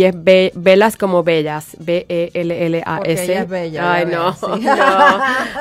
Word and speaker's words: Bellas: Y es velas como bellas, B-E-L-L-A-S. Porque ella es bella. Ay, no. No, mi esposo es griego y se pronuncia con una... se escribe con 2 L, pero se pronuncia con una.